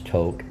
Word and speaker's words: Tok: a campground in the small town of Tok toke is spelled t-o-k you'll and it's pronounce toke um you'll hear me talk about toke a fair amount you'll also hear me talk